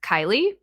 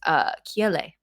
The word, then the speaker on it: Kiele: And so the English pronunciation is Kylie, which is kind of like what I go by for like work or whatever. And then the Hawaiian enunciation is Kiele.